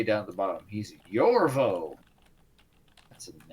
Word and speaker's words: Yorvo: You gotta say his name like he's, who's the guy in the painting in Ghostbusters 2? So He is Yorvo.